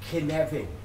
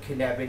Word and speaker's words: cynefin: I'm going to use a Welsh word here, cynefin. It's spelled C-Y-N-E-F-I-N.